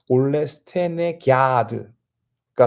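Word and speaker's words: Ole Stenegärd: 스웨덴 말로 그랬더니 그 그 올라스 테네 그하고 아가 아니라 야 하는 발음으로 나오더라고요 그래서 올레 스테에 기드가 정확한 발음이라고 하더라고요 아무튼 그 올라 스테가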